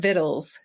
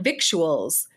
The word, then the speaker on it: victuals: It's spelled Victuals. I didn't know that. I thought it was Vittles. And so all these years when I've been seeing the word spelled Victuals, I have been saying victuals.